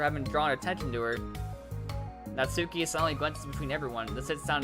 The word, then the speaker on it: Natsuki: Oh, wait, it's not Natsumi, it's Natsuki. Sorry, I said it wrong. It's a K, not an M.